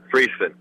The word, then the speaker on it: Friesen: Is how it's pronounced? Friesen.